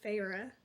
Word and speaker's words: Feyre: Our main character, Feyre, I think that's how you say it. It literally told you how to pronounce her name in the beginning of the book, but sometimes I just forget.